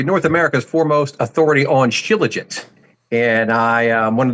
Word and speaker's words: Shilajit: I pronounce it Shilajit. It just rolls off my tongue like that. I hear others pronounce it Shilajit.